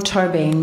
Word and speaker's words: Tóibín: I pronounce it Tóibín, but I'm going to have to keep saying it because I can't.